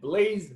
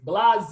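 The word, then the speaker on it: Blaise: by osmani rodriguez and blaze blase i think that's the way you pronounce his name i was gonna say blaze but it looks like blase hemingway and the film begins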